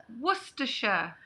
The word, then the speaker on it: Worcestershire: No, we in the British pronounce it as Worcestershire.